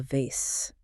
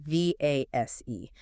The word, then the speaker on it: vase: Yes, va s e. In American English, we typically say vase. In British English, you will often hear vas.